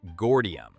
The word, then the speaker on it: Gordium: Take Gordium, pronounced Gordium.